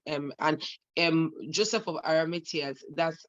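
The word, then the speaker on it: Arimathea: were pharisees and um and um joseph of aramatius that's how it's pronounced joseph aramitias actually was a pharisee if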